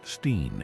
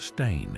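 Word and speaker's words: Berenstain: The sheer volume of people who recall this alternate version, complete with fabricated memories of how teachers pronounced it steen instead of stain, is staggering.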